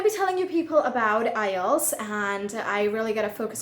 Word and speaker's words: IELTS: english language testing system many people also pronounce it islets or or however they pronounce it i don't know i pronounce it ielts so ielts is international